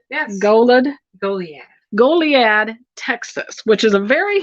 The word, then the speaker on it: Goliad: Goliad, Texas, which is a very historic, very unique town.